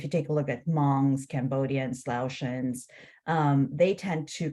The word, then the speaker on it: Hmong: For instance, and tell me if I'm mispronouncing this, Hmong? Hmong, thank you.